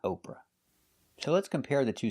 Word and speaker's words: Oprah: The pronunciation is the long O sound like no and go. Oprah.